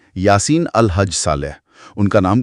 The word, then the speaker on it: Yaseen: जहां तक उच्चारण की बात है तो अरबी में इसे यासीन कहते हैं। या को थोड़ा खींचते हैं और सीन पर जोर देते हैं और स की आवाज नरम होती है।